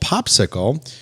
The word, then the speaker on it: Popsixle: very very relevant and again it is called popsicle uh it is spelled p-o-p-s-i-x-l-e so let's first start with what's